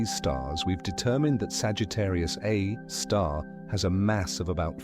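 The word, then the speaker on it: Sagittarius A*: It has a name Sagittarius A star pronounced Sagittarius A star.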